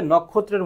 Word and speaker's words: নক্ষত্র: প্রশ্নটা আরো বেশি গুরুত্বপূর্ণ যদি বলা হয় নক্ষত্র এর উচ্চারণটা কি তাহলে কি হবে দেখো নখ যেখানে থামে এবং কোন কার থাকে না সেখানে হচিহ্ন বাকি হবে কি নখ তারপর হবে ত্র এটি হবে তোমার উচ্চারণ প্রশ্নটা এমন আসতে পারে